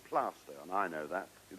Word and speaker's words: Plaistow: Yes, and for those who wouldn't know, it is spelled Plaistow, is that right? Yes, but it's called Plaistow, and I know that.